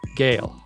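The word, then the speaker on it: Gehl: Gale. Wow. And that's spelled G-E-H-L in case you're looking up this book by its author.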